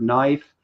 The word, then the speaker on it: knife: when they said knife, you probably looked at that and said, that has a K in front of it. Why is it knife? Well, Yeah. the K is silent.